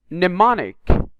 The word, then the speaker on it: mnemonic: Mnemonic, not mnemonic. You can notice it is very difficult to pronounce the M letter here, especially in this word.